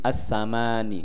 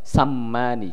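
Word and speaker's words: السماني: Ini cara baca assamani itu bitakhfifil mim enggak usah ditasdid. Jadi assamani enggak usah sammani.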